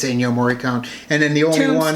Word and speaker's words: Ennio Morricone: And as soon as they said it, yeah, it's Ennio Morricone.